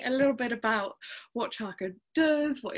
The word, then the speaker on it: Charco: Because I know that it's pronounced a little bit differently. Charco. Charco, yeah.